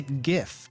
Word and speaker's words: GIF: of gloves do you say it like jiff and always think of peanut butter you know that's perfectly fair and that's probably why i don't say it like i don't say it like that i say gif because animated um images